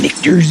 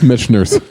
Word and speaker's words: Michter's: I love Mitchners. So I was just going to say, damn it. No, I've learned how to pronounce Michter's over the last year at Oh, least.